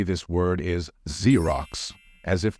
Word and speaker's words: Xerox: say this word is Xerox as if the first letter is z I know it used